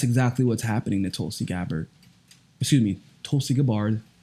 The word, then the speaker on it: Gabbard: what's happening to Tulsi Gabbard excuse me Tulsi Gabbard pronounce her name correctly everybody she doesn't really mine either way it seems but just out of professional courtesy her last name is Gabbar do you not see